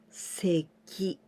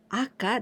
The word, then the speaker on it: 赤: You can also pronounce seki, and this also means red. A baby, 赤ちゃん、赤ちゃん, baby. In the red, in the deficit, 赤字、赤字. Literally in Japanese, aka, this is red, and ji, this is letter.